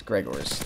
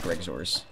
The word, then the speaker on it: Gregors: It's Gregors, not Greg Zores.